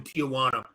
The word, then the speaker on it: Tijuana: And it never, when I was 16 years old, I was in Tijuana, because all good stories start with when I was 16, I was in Tijuana.